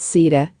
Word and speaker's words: Sita: Sita, pronounced Sita, is the female counterpart of the Supreme Being, Rama.